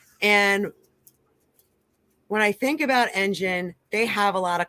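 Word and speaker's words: Enjin: the next Bull cycle an engine is spelled e-n-j-i-n just again because I know when I first started I kept on looking for that g in there but this is an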